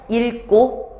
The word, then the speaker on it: 읽고: 자, 그러면은 얘네들은 뭐 때문이냐면 뒤에 오는 애가 이 끝자음 기억과 똑같기 때문에 그냥 읽고 그 다음에 밝게 라고 발음을 한대.